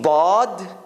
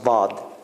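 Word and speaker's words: ضاد: going to give you there are two ways arabs pronounce baad is your tongue hits the hits the uh hits the right right side of the of the of the edge between your your front teeth and your molars so it's like in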